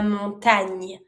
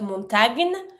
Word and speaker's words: montagne: The mountain is la montagne. Careful, not montagne, nya sound.